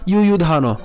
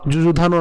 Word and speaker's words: যুযুধান: ইয়ুধান। কেন? যুযুধানো না, ইয়ুধান অন্ত্যেষ্টিয়র মতো উচ্চারণ হবে।